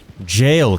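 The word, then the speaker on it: Gaol: g a e l we're looking for jail cave but because it's Elden ring and everything has to be a problem it's spelled g a o l hence my confusion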